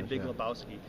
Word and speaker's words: Lebowski: Because he spelled it how it's pronounced. Right. Because you say Big Lebowski, you don't say Big Lebowski. No. You say Big Lebowski.